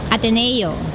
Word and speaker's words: Ateneo: How do I pronounce the university? Ateneo. Ateneo.